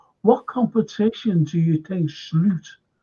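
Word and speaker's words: Slot: competition do you think slute that's how your pronouncers name by the way slute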